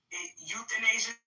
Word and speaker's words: euthanasia: Euthanasia? I can't pronounce that. Euthanasia, so the E is silent.